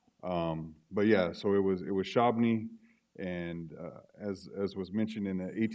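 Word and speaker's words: Shabbona: Okay, so he wasn't specifically ordered to relocate to Kansas, but how we pronounce the name is Shabni. That's how we've always done it.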